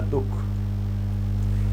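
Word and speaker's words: दुःख: हम बोलते हैं तो होगा दुख और इसमें आधे है का उच्चारण आएगा दुख तो यह है विसर्ग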